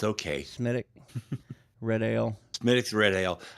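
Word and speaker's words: Smithwick's: Smithwick? It's pronounced Smittick, but that's okay. Smittick.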